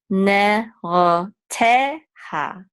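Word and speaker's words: נרתיה: And this is a hey with a kamatz, which will say ha, ha. Ne, ro, te, ha.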